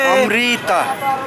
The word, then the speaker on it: Amrit: How do you say Amrit.